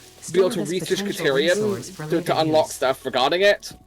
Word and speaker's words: Caterium: So are we able to like auto like mining a caterium ore? Caterium. It's pronounced caterium.